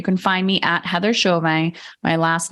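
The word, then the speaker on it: Chauvin: to Instagram you can find me at Heather shovey my last name is spelled c h a u v i n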